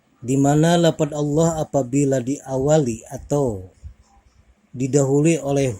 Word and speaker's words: Allah: tebal kita ketahui bahwasanya dipertegas lagi lafadz Allah apabila didahului oleh huruf-huruf yang berawal fathah atau dhomah maka hukumnya adalah tafkhim atau dibaca tebal dan kita ketahui bahwasanya